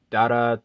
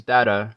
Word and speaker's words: Dada: it in the show I'm assuming you're supposed to say it fast like data you know because that's you know that's kind of how I hear it because if you